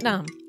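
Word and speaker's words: Sat Nam: Satnam.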